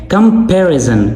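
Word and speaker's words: comparison: कंपैरिजन कंपैरिजन पी ए आर पर आपने जोर देना है।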